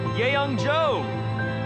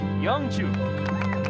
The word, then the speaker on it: Youngju: The MVP award goes to Yeongjo. It's actually Youngju.